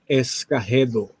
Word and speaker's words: Escagedo: The correct original name without any, would be Escagedo. Escagedo. Dude, that's like, it's like perfect. Escagedo.